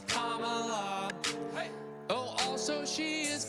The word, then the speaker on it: Kamala: It's not Kamala, no, her name is Kamala. Duh. Emphasize the first syllable, it's Kamala.